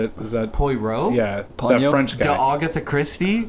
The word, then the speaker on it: Poirot: look it's spelled like it's it's not it's pronounced paurav Poirot but it's spelled like parrot-like pe roi T